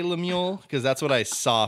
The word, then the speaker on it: Lemuel: Lemuel? Mm. I'm not sure. I wasn't sure how to pronounce it. I'm pretty sure it's Lemuel. Lemuel?